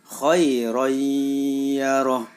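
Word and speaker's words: خيرا يره: atau tertulis choiron yaroh karena ada Fathur Tain bertemu dengan huruf Idgham Bighunnah yaitu ia maka suara tanwin masuk ke dalam huruf ya jadi cara membacanya khoiroyyaroh khoiroyyaroh sekali lagi khoiroyyaroh selanjutnya contoh bacaan Idgham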